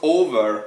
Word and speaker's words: over: Of course, over, yes, has the accent on the O. Over has two syllables, but the accent is on the first.